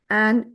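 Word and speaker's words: âne: suppressing voice because circumflex is there on A. And E is generally silent at the end and puts the whole sound together for the previous letter. So, it becomes an.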